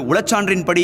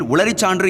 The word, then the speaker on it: உளச்சான்றின்படி: அப்பொழுது உளச்சான்றின்படி என்று கூறுகையில் உளரிச்சான்று என்று கூறி தடுமாறினார் என்பது குறிப்பிடத்தக்கது.